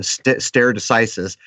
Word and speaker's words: stare decisis: it'll tell you that starry decisis as it is spelled so or stare it would be s-t-a-r-e-d-e-c and then isis of all things so star stare decisis it is a definition is